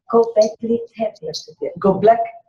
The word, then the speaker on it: Göbekli Tepe: Göbekli Tepe.